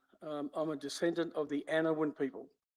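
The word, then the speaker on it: Anaiwan: I'm a descendant of the Anawan people. Anawan is spelled A-N-A-I-W-A-N.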